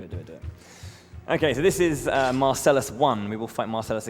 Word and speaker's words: Marcellus: Okay, so this is Marcellus one. We will fight Marcelus again. um or as the Japanese say merciless which is a much cooler name or pronunciation at least it sounds like merciless.